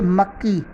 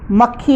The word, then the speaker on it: मक्खी: व्यंजनों के कारण होने वाली अशुद्धियाँ इस प्रकार हैं, जैसे मक्की। मक्की अशुद्ध उच्चारण है, मक्खी होता है।